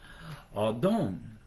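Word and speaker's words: אָדוֹן: In the Hebrew, the word used there would have been Adon. A with a little house roof over the A, and then D-O with a little roof over the O. W-N, pronounced A-W-D-O-N-E. Adon.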